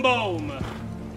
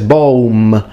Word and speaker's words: boum: It's interesting because he fully pronounces the M, he says boum, and that's a bit too modern Italian. As an Italian, that's how I would naturally pronounce it. I would say boum, but the Latins, the M is fully nasalized, so it needs to be so boum, boum, if you want to sound authentic.